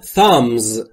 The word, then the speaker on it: thumb: You are all thumbs. You are all thumbs. Thumb یعنی انگشت شست و همونطور که میبینید بیشت ناخواناست و تلفظ نمیشه.